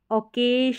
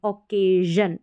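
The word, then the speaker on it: occasion: ए ये है जन ऑकेजन ओकेज नहीं पढ़ेंगे ऑकेजन समझ में आ गया क्योंकि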